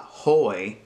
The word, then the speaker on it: hoy: Hoy. Don't forget that the H is silent. It's not hoy, it's hoy.